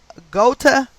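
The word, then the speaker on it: Ghouta: that incident happened in the town of gota syria and that is spelled g-h-o-u-t-a also equating to 144.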